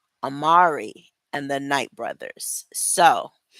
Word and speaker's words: Amari: For some reason, I keep wanting to say Omri, but it's Amari and the Night Brothers.